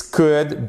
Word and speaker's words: could: This could be seen as a sin. Vous entendez la différence? This could. On ne prononce pas le L ici, attention, comme dans would, comme dans should.